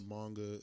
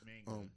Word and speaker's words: manga: Yes, and the manga is doing great. A lot of stuff is going to come out for that. It's manga, not manga. Manga. No, it's manga.